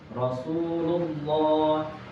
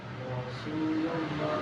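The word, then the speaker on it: رسول الله: Apabila lam dan dalam perkataan Allah didahului oleh fathah atau domah, maka haruslah dibaca dengan tebal atau mukhafa. Mukhaf mufakhamah. Mufakhamah. Oke. Umpamanya umpamanya syahid syahidallah syahidallah Rasulullah Rasulullah Allahumma Allahumma kita baca bareng-bareng.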